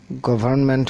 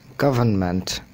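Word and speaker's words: government: global global global গভর্নমেন্ট গভর্মেন্ট হবে না হবে গভর্নমেন্ট হেট হেলথি হেলদি হবে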